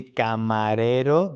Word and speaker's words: camarero: You see camarero, the rolling R is soft.